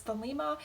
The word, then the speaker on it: Thelema: Thelema, or sometimes pronounced as Thelema, is a religious philosophy best thought of as an umbrella term.